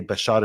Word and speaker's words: Bashar: is that they have presidents like Biden who can't even say Bashar al-Assad's name correctly. Like, if you can't even say his name correctly, I don't mean that as there's no jest here. Like, he said Bashir.